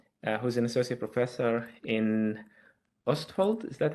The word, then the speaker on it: Østfold: like to welcome Henrik Sætra, who's an associate professor in Østfold. Is that how you pronounce it?